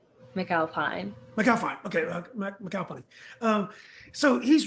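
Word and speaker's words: McAlpine: Did I pronounce that right? McAlphine.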